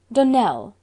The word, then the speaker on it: Donnell: would set it right donnell accent on the last syllable and sint claire on